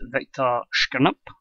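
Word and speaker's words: Viktor Skrypnyk: Manager of the Year went to Werder Bremen's Viktor Shkirnup. That's how you pronounce it.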